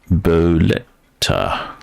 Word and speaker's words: Bolette: thanks to Google search bolet is pronounced boleta well that makes absolutely